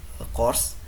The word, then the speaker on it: CQRS: Nah, selanjutnya pattern yang kedua adalah CQRS atau biasa dibacanya course.